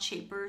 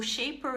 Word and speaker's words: Shapr: I said I would say a few words about Shaper. So it's spelled SHAPR, and Shaper is basically there to help you connect with individuals.